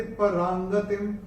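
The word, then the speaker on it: परांगतिम्: तो ये जो र के ऊपर जो अनुस्वार आ रहा है उसके बाद का अक्षर है ग और अनुस्वार के बाद जब ग आएगा तो अनुस्वार का उच्चारण होगा अंग।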